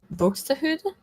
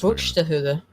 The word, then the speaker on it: Buxtehude: Buxtehude? Yeah, probably like that. I don't know either. Yeah, that sounds more Swedish than it does. That sounds more Scandinavian than it does. Buxtehude.